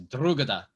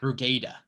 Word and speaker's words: Drogheda: If it's Gaelic, it's probably got that brogue to it. So you got to say Drugada. Yeah. Drugada.